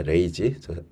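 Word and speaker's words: RAG: 자, 검색 증강 생성이라는 것은 이거는 읽다 레이지라고 읽으면 됩니다. 레이지.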